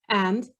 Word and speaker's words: and: Now, when I say this, I don't pronounce the D much. So listen to me. 1 and 2 and 3 and 4 and. I just say an. We drop the D a lot.